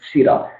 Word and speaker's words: PSIRA: I need to be registered with SIRA. That is spelled PSIRA.